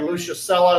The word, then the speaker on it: Lucius Sulla: By the way, Lucius Sulla is how you say that.